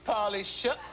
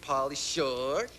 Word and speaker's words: Pauly Shore: Third lady said, uh-oh, I got a date with Pauly Shook. Uh-oh. No, come on. Say it right. Uh-oh, got a date with Pauly Shore.